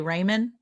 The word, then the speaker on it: ramen: How do you say it? Ramen noodles. Ramen noodles. You say Raymen.